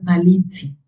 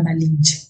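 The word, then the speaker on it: Malintzin: que se hacía llamar Malitzi, pero hasta su constante Pero hasta su consorte Cortés invariablemente pronunciaba mal ese nombre. que ella había seguido llamando la malincha.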